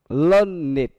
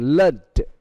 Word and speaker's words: learned: này thì đó là phải phân biệt được động từ và tính từ thì phát âm được khác nhau. Ví dụ đó là learn, nếu động từ learn learned khi nó là adjective, còn learned, learned, learned khi nó là verb.